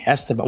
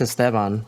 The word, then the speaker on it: Esteban: Esteban. Well, it depends if you're how you say it. It's Esteban, but all my What do you white mean?